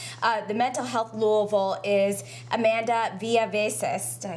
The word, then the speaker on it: Amanda Villaveces: Joining me now is the director of the Mental Health Louisville is Amanda Villaveces.